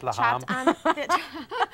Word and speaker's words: Lahme: It's pronounced Lahme.